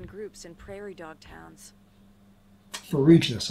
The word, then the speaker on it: Ferruginous: Ferruginous. I was pronouncing that wrong earlier.